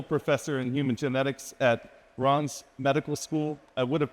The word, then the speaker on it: Reims: Anne-Sophie is a full professor in human genetics at Reims Medical School. I would have pronounced that Reims.